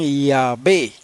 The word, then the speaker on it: Yahweh: para no interrumpirla dice aunque los judíos no pronunciaban el nombre sagrado los samaritanos lo pronunciaban yahvé y como los samaritanos